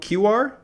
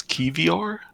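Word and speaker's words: Kiwior: name wrong uh Jacob QR here we are from uh special calcio to Arsenal you're taking I think it's I think it's key VR cavior k-i-w-i-o-r yeah something like that which by the way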